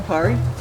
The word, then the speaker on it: Pari: I'll just be taking How do you pronounce this one? Pari? Pari.